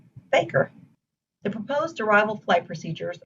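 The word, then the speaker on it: FAKIR: five letters for example the f-a-k-i-r waypoint would be pronounced faker the proposed arrival flight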